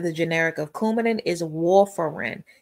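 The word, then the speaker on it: warfarin: Couadin the pronunciation of the generic of couadin is wolerin. Now looking at the pronunciation it probably looks like war far in right but it's wolerin.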